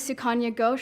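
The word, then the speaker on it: Sukanya Ghosh: Um my name is Sukana Goo, that's spelled S U K A N Y A G H O S H for the press.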